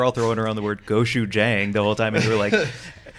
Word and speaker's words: gochujang: I mean, it's going to be gochujang, right?